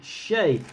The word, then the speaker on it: Shea: world shea figure though maybe some people pronounce it sheer it should be shay uh this is a